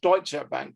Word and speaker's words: Deutsche Bank: But obviously I speak German, and it's called Deutsche Bank, because that's the correct pronunciation of that bank.